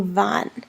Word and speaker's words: van: weights van VA n remember van is pronounced VA n van not van van says something we drives in the United States and then quite mean the same thing in Spanish so make sure you're saying Vaughn so that whole part